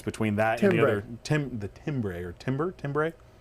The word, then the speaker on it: timbre: Now the problem with that, of course, is that the tone difference between that and the other timbre. It's spelled timbre. Pronounced timbre. Timbre.